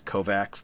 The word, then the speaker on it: Kovacs: This is in the Kovacs novels where it's supposed to be pronounced Kovac.